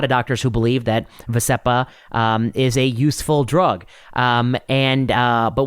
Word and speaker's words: Vascepa: I think it's called Vascepa. That's how the advertisements pronounce it.